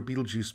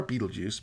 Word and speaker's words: Betelgeuse: although it is difficult to say exactly where Betelgeuse begins or ends measurements of its diameter average